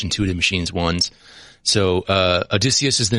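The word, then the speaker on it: Odysseus: say it right that right yeah so it's adicus this is intuitive machines is the private company based out of Texas and uh this was their im1 their first launch intutive machines ones so uh adicus is the name of spacecraft although they refer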